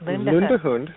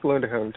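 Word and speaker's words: Lundehund: thank you well did I pronounce is it Lund hund is did I think I pronounced Lund hund it's pronounced lundun nor nor lundun she is a she's a puffing Hound she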